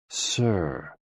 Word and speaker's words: si: SI, pronounced like sir, with a slow exhale, which is associated with the lungs.